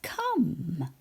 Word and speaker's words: come: Our first word is come.